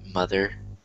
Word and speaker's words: mother: But you want to make sure that you pronounce the T-H and you don't say mother, because a lot of people do that.